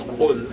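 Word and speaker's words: قل: A popular example is the word qul and kul, which qul with a qaf means say, and kul with a kaf means eat.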